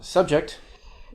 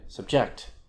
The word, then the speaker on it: subject: from uh in english uh subject like a thing that you study and subject uh i was subjected to this awful treatment a verb to subject something uh object a thing